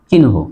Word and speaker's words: চিহ্ন: সেই ন আগে হয়, তাহলে উচ্চারণ করার সময় কি হবে চিন, চিন হয়কারে হো, চিহ্ন হো। এখানে ওকার হলো কেন, এই যে যুক্ত বর্ণ আছে আর যুক্ত বর্ণের শেষের বার সবসময় ওকার হয় উচ্চারণ করার সময়, সে কারণেই চিহ্ন হো।